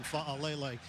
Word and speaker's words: Fa'alele: And very good pronunciation for you on Fa'alele.